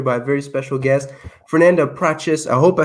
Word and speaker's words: Fernanda Prates: Show, joined here by a very special guest, Fernanda Prates.